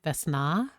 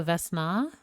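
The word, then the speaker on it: Vesna: Stress on the last A. Vessna. So, Vessna.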